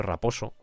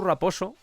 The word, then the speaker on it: Raposo: Y quiero mencionar aquí el nombre de Joe Raposo, lo pronuncio Raposo, así muy españolizado, que lo he mencionado